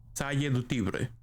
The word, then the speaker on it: Salle du Tibre: Is it Salle or Celle? Salle du Tibre. If I understand... Huh? Salle du Tibre. Like that? Did I say it right? Okay, Celine says that I said it right.